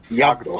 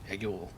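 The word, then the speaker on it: Yag'Dhul: YAG apostrophe DHUL. Yagdul. Yeah, duel. Yagdul. Anyway, that planet is where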